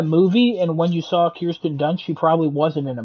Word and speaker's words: Kirsten Dunst: I saw her name is Kirsten Dunst, right? correct. Is that Yeah, how I'm pronouncing?